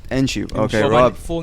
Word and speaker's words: Enciu: how do you say your second name enu enu okay my full name is technically